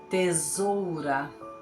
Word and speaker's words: tesoura: tem som de z tesoura observem está entre duas vogais por isso o som é como um z tesoura Então essas foram as